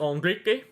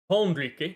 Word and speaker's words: Enrique: Ball with Enrique. Enrique, not Enrique. I think the H is silent though. Because like in French, the H is usually silent.